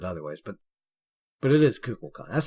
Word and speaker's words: Kukulkan: Some other people pronounce it other ways, but it is Kukulkan. That's how he says it in game. Do not say Kukulkan. That is just Ew, what? Kukulkan.